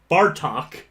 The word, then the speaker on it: Bartok: of it uh yep bartok is the bat bardock is goku's yeah okay i was a letter off and i pronounced it a hard t that sounded like a d essentially i had to figure